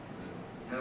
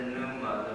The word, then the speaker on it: pneuma: I can't say it, so I'm going to spell it, and then maybe someone can interpret it for me. P-N-E-U-M-A. Pneuma.